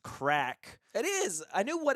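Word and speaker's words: craic: love the idea of musicals so much it's pronounced crack it is I knew what it meant but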